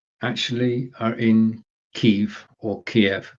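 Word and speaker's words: Kyiv: BeLive, the engineering part of BeLive, the team members in BeLive actually are in Kiev, or Kiev. Kiev is the Ukrainian pronunciation.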